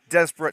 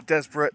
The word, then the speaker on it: Desborough: our hosts of artan desperate town so named as it's the local pronunciation of our town so the team for desperate today number one chris